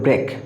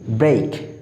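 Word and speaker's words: break: দেখো ই এর জন্য এখানে এই হয়েছে, আমরা এই শব্দটার উচ্চারণ ভুল করে থাকি, আমরা বলি ব্রেক, বাট it will be ব্রেক।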